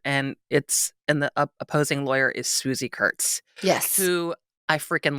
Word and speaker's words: Swoosie: he finally gets to court, and the opposing lawyer is Swoosie Kurtz.